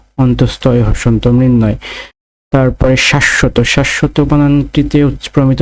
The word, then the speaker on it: মৃন্ময়: তারপরে রয়েছে মৃন্ময়, মৃন্ময় বানানে, মৃন্ময় বানানটিতে রয়েছে ময়রিকার দন্ত নয় হসন্ত ম অন্তস্তয় হসন্ত, মৃন্ময়। তারপরে শাশ্বত, শাশ্বত বানানটিতে প্রমিত উচ্চারণ রয়েছে তালেবর সয়াকার তালেবর শয় হসন্ত তালেবর স তওকার, শাশ্বত।